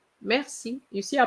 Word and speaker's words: merci: For example, the other day I heard somebody saying merci, merci, and I said, oh gosh, merci, merci. You see, I pronounce the R, but not merci.